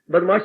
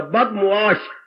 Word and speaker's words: बदमुआश: बदमाश शब्द नहीं होता, बदमुआश, बद मैंने बुरा, मुआश मैंने व्यवहार, जिसका व्यवहार बुरा हो, जिसका आचरण बुरा। बदमाश हम बोलती है पर ये उच्चारण गलत है, बद मीम और एन